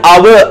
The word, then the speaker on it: hour: එකක් නැත්නම් පැයක් hour h අකුර තිබුණට එතන pronounce කරන්නේ hour a කියන sound එක එතකොට ඒක vowel sound